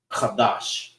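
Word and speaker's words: קדש: That is how you say month in the Hebrew. Qadash.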